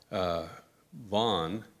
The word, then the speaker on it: Van: out at the University Vonn even though it's spelled Van von dole Reynoso who is